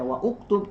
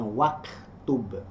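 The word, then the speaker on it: واكتب: Menjadi tidak dibaca wa uktub tapi dibacanya waktub.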